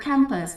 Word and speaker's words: campus: Number 11, the stress in the word campus falls on the second syllable.